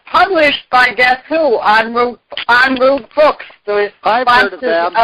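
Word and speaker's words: en route: and ro ute it's the french word is pronounced on route on route book or get it off the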